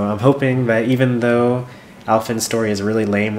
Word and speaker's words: Alfyn: Alfyn rhymes with Ellen? Almost. It's close enough.